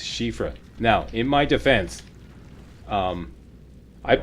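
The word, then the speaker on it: Siofra: Somebody recently told me that I've been mispronouncing Shiafra, and apparently in Irish, it's pronounced Shifra.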